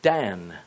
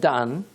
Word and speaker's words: dan: Notice the relationship to the word dan, D-A-N. In between the letters dalet and nun, the D and the N, only the vowel sound is changed.